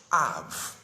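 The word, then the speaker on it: אב: The Hebrew word for father is Av.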